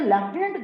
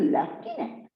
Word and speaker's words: lieutenant: What is lieutenant? Just look at the spellings, dear students. L-I-E-U-T-E-N-A-N-T. But if we pronounce this word, it's lieutenant, not lieutenant.